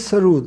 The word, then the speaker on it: sarod: And sarood, actual pronunciation is sarood, which means mausiqi, nagma, tarannum.